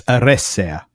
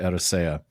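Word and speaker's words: Eressëa: a few years ago and that's aressa. Yeah, I've so often pronounced it arisesa and I think one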